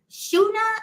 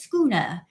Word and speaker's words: schooner: see it says Schooner we had to look up how to say it because we weren't sure if it was shuna or Schooner and it is Schooner now this is a